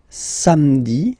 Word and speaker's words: samedi: Then samedi, samedi, don't insist on the hein?